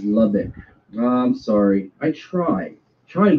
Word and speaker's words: Lubbock: Chris, people in Texas pronounce it as Lubbock.